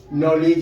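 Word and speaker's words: knowledge: silent रहेगा उसके बाद के एन अगर एक साथ लिखा रहेगा तो के का उच्चारण साइलेंट रहेगा जैसे के एन डबल ई नी लिखते हैं नॉलेज लिखते हो नो लिखते हो तो जहां भी कोई भी शब्द में इतना याद रखो कोई भी शब्द में अगर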